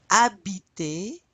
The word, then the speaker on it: habiter: Aimer, adorer, chanter, danser, détester, écouter, étudier, fumer, habiter, you don't pronounce the H, jouer, manger, parler, You're repeating after me, right?